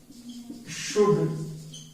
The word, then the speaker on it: should: उसके अलावा देखिए, जब भी एल के बाद डी आता है तो in certain words, in certain models L remains silent. तो जैसे कुड, यू शुड help your parents, you शुड help your parents.